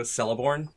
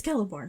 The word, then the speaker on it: Celeborn: So it's really hard for me sometimes to not go Celeborn. It's Celeborn. It's Celeborn.